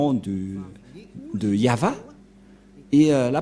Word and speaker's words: Yahvah: langue hébreu voilà donc le terme yava yava et on va voir comment on prononce cette parole et nous allons voir s sens par ici puisqu'il s'agit d'une fausse transitération par les catholiques romains qui ont utilisé Yahé un terme qui n'existe pas c'est pourquoi ilont enlevé